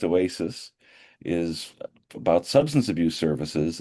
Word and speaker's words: OASAS: OASAS, typically pronounced Oasis, is about substance abuse services.